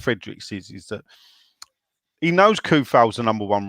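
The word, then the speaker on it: Coufal: Even David Moyes calls him Koufal. So listen back to it, yeah, people. Don't listen to the Sean Whetstones of the world who call him Soufal.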